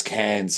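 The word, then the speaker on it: Cairns: of C of uh cans yeah y yeah and that's can's Australia it's spelled c a i r NS but we said down here cans have to specify that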